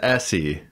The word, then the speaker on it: Elsie: He says Essie. Essie. Elliot and Essie. But it's spelled like E-L. Yeah, we had the subtitles on this time for the first time. And it's spelled E-L-S-I-E. But it's like Essie.